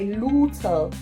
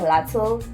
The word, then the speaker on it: luteal: However, I am in my luteal. Is that how you say it? Luteal, because I've been saying it wrong. I've been saying lateral. Kanti, it's luteal.